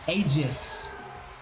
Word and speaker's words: Aegis: It says agis slash is pronounced with a soft g. It comes in a a aegis ag I slash I slash and that's probably some way to say it.